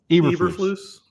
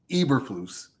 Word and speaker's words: Eberflus: How do you pronounce his name? Eberflus. Eberflus.